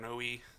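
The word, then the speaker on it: Noé: to really pronounce Gaspard I know his name and it's that it's Gaspard no II because I had heard people say no a and I'd heard it said no so I needed to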